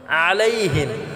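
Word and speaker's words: عَلَيْهِم: আলাইহিম, আলাইহিমও আমরা গলায় চাপ দিয়ে উচ্চারণ করব এবং হিমটা আমরা খাটা করব, এটা টান করা যাবে না। অনেকে আছে আমরা আলাইহিম বলি, এখানে আলাইহিম হবে না, আলাইহিম।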